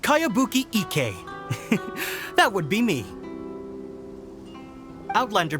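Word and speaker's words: Kayabuki Ikkei: heard of it by cowabunga icky your mia this is a really strange name who's this cowabunga it's pronounced kayabuki ek that would be me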